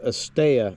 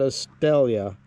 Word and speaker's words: Estella: Estella, we stayed here, whatever that is. And I want to point out, Estella, not Estella. In Spanish, when 2 L's are together, it makes a Y sound.